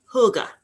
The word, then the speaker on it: hygge: so let's start start with the pronunciation hygge say it a couple times it's fun hygge so what does it